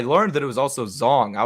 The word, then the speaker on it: Zhang: I learned that it was also Zong. I've been pronouncing it Zhang. But apparently it's Zong Weili, and yeah, but Rose dominated those championship rounds, which is right.